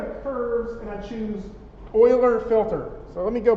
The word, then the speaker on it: Euler: So it's pronounced Euler, or that's what people keep telling me. It looks like Euler, E-U-L-E-R. So, Euler. So what does that mean?